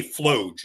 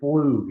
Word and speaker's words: Flug: I ended up on, now I say Floge. Is that the correct pronunciation? You're the one who calls it. So the correct pronunciation is Flug, actually. Flug. Okay.